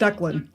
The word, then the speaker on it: Declan: I was like, no, it's it's pronounced Declan.